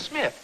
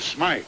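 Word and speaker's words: Smythe: ever heard I suppose your name is Smith no it's Smite spelled with a Y oh that's the English version Mr Mr Smite and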